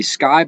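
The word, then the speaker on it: Cyke: But when I shot Bushnell, the owner, the guy that invented the Sky Bipod, and it's spelled C-Y-K-E, he was actually on my squad.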